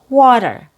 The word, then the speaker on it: water: Another example is water, water. It has an aw sound. That's your stressed syllable. The weak syllable has a fast D sound.